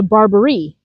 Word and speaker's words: Barbari: Then there is the Barbarie. Emphasize emphasis on the last syllable.